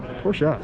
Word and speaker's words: Porsche: Porsche, sorry. Porsche is definitely a two-syllable word.